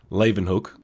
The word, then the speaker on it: Leeuwenhoek: Go back to the pronunciation. Leven Hook.